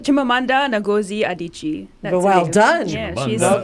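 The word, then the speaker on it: Chimamanda Ngozi Adichie: to i'm going to say her name right chimamandu chimamanda nagozi adichie well done yeah she's all done she's african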